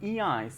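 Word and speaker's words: ञ: और उसके बाद इया, इसको पढ़ते हैं हिंदी में, जो इस वर्णमाला का उच्चारण होता है इया होता है।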